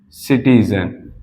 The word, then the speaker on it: citizen: सिटीजन। सिटीजन में ये जो सी था, मैंने इसको सा की तरह प्रोनाउंसिएट किया, तो दोनों में अलग अलग आ गया कि नहीं।